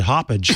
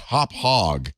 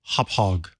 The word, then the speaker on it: Hauppauge: I would have said hoppage. No, it's pronounced Hauppauge, like you're hopping over a hog. Hauppauge.